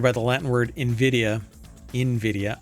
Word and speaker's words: Nvidia: Nvidia I N V I D I A reflects its founders hope to evoke envy. Some people still don't know how to pronounce the name.